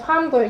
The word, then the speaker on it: 환불: 민주, 환불 pronounced as 환불. Yes. Good question. Yes, guys. So 환불 is pronounced 환불. If you remember consonant assimilation, this would make sense, right?